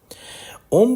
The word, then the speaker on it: ओम: ओम का उच्चारण तीन ध्वनियों से मिलकर बना है। आ, उ और म।